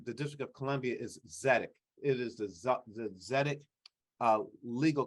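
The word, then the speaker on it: Tzedek: One in the District of Columbia is ZEDEC. It is the ZEDEC legal clinic at UDC. And ZEDEC is spelled TZDEK.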